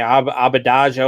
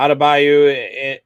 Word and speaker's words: Adebayo: I mean, I can't pronounce his last name, Abadajo or whatever it is. He's out again. Bam Adebayo. Yeah, Adebayo, and then they're missing their other big guy.